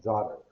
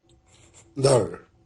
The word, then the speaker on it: daughter: Father and daughter. Ok, check this out. Check this out. La pronunciación va a ser algo como, en el